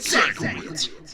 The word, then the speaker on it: Sienkiewicz: Bill Sienkiewicz, SANKOWITZ. Bill Sienkiewicz, SANKOWITZ.